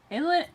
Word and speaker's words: Illinois: Illinois. Illinois. Don't. It's not plural. Don't There's pronounce only the one.